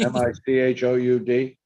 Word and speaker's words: Michoud: I can't pronounce it. Michoud, M-I-C-H-O-U-D.